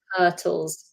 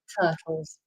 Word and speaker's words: turtles: Turtles. Turtles. We don't pronounce the R. Tles. Turtles.